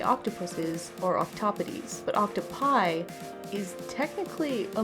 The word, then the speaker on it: octopodes: So technically, the grammatically correct way to say the plural of octopus is actually octopodes.